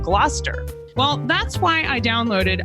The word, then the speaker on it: Gloucester: Like originally I said Gloucester instead of Gloucester.